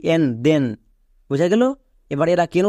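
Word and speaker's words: then: এর পরে আই আছে কিন্তু টি এইচ এর জন্য দোয়া হচ্ছে কেন কারণ এখানকার প্রত্যেকটি ওয়ার্ড ব্যতিক্রম এরা রুলস ফলো করে না যেমন দেখো টি এইচ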